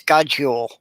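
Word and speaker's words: God jul: is good Ule but the way they pronounce it it sounds like there's only one o you know even as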